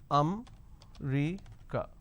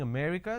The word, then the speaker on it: America: Delhi and all that now the correct pronunciation is if I have to break it down to syllables oh may recur so there are four syllables or may recur now in northern part of the country they pronounce this as um recur so they drop a syllable instead of saying America they say I'm going